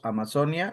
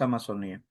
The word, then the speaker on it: Amazonía: Ojo, porque existen los dos, Amazonia y Amazonía, pero acá pronunciamos más Amazonía.